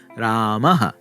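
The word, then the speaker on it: रामः: words, for example, and it's pronounced by making a h sound and then echoing the short version of the preceding vowel. Ramaha, gatihi, guruhu, etaihi, and so on.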